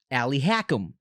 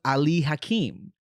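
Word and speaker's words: Ali Hakim: was in the musical they call him Ali hackam but his name was Ali hakeim he was a Salesman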